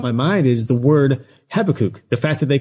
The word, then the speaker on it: Habakkuk: Habakkuk. Oh. There's a couple of different pronunciations. I usually call it Habakkuk. It could be Habakkuk.